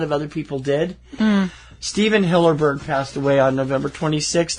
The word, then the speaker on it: Hillenburg: And I said his name wrong. I always do that. It's Hillenburg, not Hillerberg.